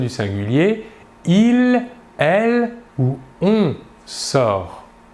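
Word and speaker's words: il sort: Nous voyons bien ici que le verbe se prononce de la même manière. Par contre, les terminaisons S pour les deux premières personnes du singulier ou T pour la troisième personne du singulier s'écrivent mais ne se prononcent pas.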